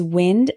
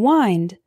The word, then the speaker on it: wind: Christmas present tear tear our next one is wind and wind wind means moving air for example my dog